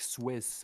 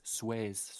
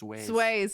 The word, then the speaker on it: Suez: Yeah, it's funny you said like Swiss, but it's Suez. Sways.